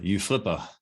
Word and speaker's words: UFLPA: of pronouncing the acronym the the you Flippa some people say oof full power but the new law